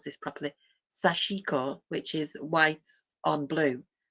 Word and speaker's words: sashiko: Um, there's a Japanese technique called, let me pronounce this properly, sashiko, which is white on blue.